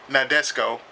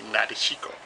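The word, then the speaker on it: Nadesico: Now I know Ryu would say he would pronounce it not Nadesco, but to me I say Nadeshiko.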